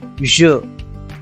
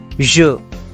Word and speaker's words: je: So you can see the first subject pronoun, which is I, is pronounced as je. Je.